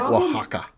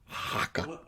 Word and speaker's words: Oaxaca: And Spanish has weird glottal stops and stuff. Like Oaxaca. Oaxaca. That sounds like a hate in Hebrew.